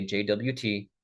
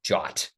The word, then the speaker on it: JWT: Um, but I hate it when they say JWT because anyone who's anyone pronounces it jot.